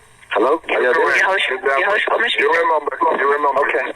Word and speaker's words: Yahoshua Mashiach: Yahoshua Mashiach.